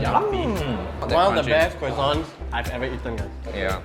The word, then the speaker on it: croissant: Yeah, he pronounced croissant as quacks. It's a croissant.